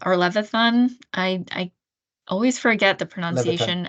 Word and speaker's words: Levithan: Every Day, the graphic novel by David Leviathan or Levithan. I always forget the Leviathan.